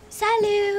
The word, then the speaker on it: salut: Salut. Excellent. Madame. Salut. Excellent. Très bien. Salut doesn't. That has a silent T now.